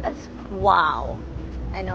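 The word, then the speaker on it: OAO: And O-A-O, which is actually pronounced as wow.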